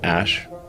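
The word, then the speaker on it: Æ: I mean, it's just X, the letter X, and then the AE is like pronounced ash.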